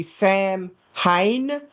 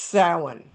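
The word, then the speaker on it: Samhain: Phonetically, it would be Sam Hayne. It's pronounced sin. Cuz nothing in Gaelic sounds like the English letters that write it.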